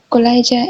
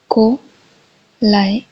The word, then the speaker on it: Kolayca: Pronunciation of Kolayca is Kolayca. Kolayca. Kolayca. Stress falls on the second syllable, like this. Kolayca.